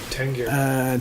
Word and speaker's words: Tengyur: Is this Kongur Tengur? Tengyur. Tengyur. Okay. So I think Tengyur.